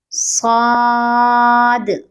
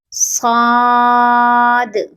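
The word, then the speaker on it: صاد: With round lips we will pronounce the third letter. Saw, Saad, Saad.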